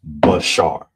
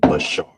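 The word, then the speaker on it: בשר: So, it'll be pronounced Bashar. So, that you know how to say it. Bashar.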